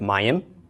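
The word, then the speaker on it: mayim: then a final mem first we pronounce the mem the short a the box the Y of the ODE short I is akyurek finally the M of the final mem and we're left with Mayan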